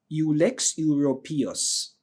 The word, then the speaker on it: Ulex europaeus: It's called ULEX, ULEX, and Euro, PAEUS, ULEX europaeus. All right, that's how we normally pronounce it, but if you have a different pronunciation, please use it.